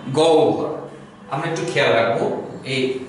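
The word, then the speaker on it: গহ্বর: র বসিয়ে দিলাম তাহলে উচ্চারণটা হচ্ছে গ ও ভর গহব্ব না গ ও ভর আমরা একটু খেয়াল রাখবো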